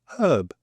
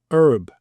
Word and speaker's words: herb: we pronounce this word herb because there's an h in it and in the states they say herb and when I first